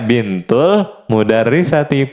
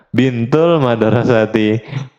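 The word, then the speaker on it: بنت المدرسة: dia putrinya bu guru ingat bacanya bintul mudarisati putrinya bu guru bukan bintul madrasti putrinya sekolah Nah itu juga salah ya tem-eman ya Nah nomor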